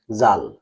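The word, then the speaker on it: ذال: দালের উচ্চারণটা আর জালের উচ্চারণটা জালটা হবে নরম।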